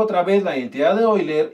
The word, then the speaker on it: Euler: y seno de teta hay quien dice que es euler a mí me enseñaron en la universidad que se pronuncia hoy leer la voy a aplicar